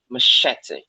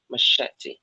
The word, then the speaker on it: machete: pronounce it first let's look at the pronunciation of it arrived exactly now three syllables and machete machete and that said so we see that which is the schwa sound and we see a